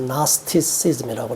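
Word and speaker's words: Gnosticism: 있어서 영지주의는 그노시스라고 하는데 영어로 말하면 묵음이 돼서 나스티시즘이라고 그래요.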